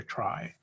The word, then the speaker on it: trie: And so some people will pronounce T-R-I-E, tree, which is also perfectly valid. But to differentiate between trees and tries, we're going to call tries tries.